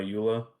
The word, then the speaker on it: EULA: then my second attack will be with my EULA and I'm just gonna roll that on him